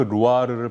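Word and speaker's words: Loire: 현지인들은 그 루아르를 발음할 때 R 발음을 프랑스 사람들 여러분 아시잖아요. 그 콧소리 내는 거. 그래서 루아르 이렇게 발음하더라고요. 그 루아르 밸리에 제가 레볼드를 갔어요.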